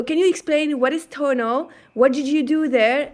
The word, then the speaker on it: Tonal: data science manager at Tonal. And I don't know if many people know Tonal. So can you Tonal or Tonal? I don't know how you pronounce it. First one's right, tonal.